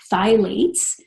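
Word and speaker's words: phthalates: the first one is the thigh lace and it's spelled th-th a la h es the file aches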